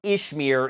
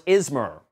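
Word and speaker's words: Izmer: It was not pronounced Ishmir in the first movie. It was Ismer.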